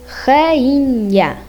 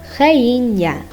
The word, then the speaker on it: rainha: N with H gives a N sound, like rainha, rainha.